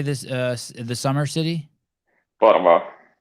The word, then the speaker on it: Porvoo: Porvoo. Porvoo. Porvoo. Yeah, it's like 1 hour from Helsinki. Could you spell it for me?